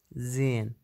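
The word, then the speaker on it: sehen: زين، زين أو زين، المبتدئين بيقولوا زين بيلفظوا هي، إذا جت هي بين حرفين صوتيين ما بتلفظ تمام.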